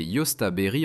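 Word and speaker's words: jostaberry: Numéro 5, le caséier, prononcé Yosta berry en anglais.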